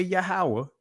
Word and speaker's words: Yahweh: I know I say Yahweh, which is the proper ancient pronunciation.